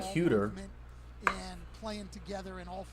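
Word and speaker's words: Huerter: I guess they pronounce his name Hunter, but it looks like Huter.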